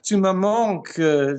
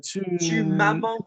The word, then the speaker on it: tu me manques: Luke, tu me manques. Tu m'as manques ou tu me manques? Tu m'as manques. No, tu me manques. Get me the pronunciation. Tu me manques, not tu m'as manques.